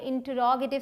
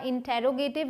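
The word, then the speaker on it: interrogative: आपने बहुत लोगों को कहते हुए सुना होगा इंटेरोगेटिव या फिर इंट्रोगेटिव, लेकिन अमेरिकन और ब्रिटिश दोनों ही इंग्लिश में इसे कहा जाता है इंटरोगेटिव।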